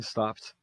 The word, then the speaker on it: stopped: The train stopped suddenly. Observem, stop é d com som de t.